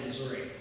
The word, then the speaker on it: Missouri: whether my students will relate to this whether Missouri is pronounced Missouri or Missour so uh he may have some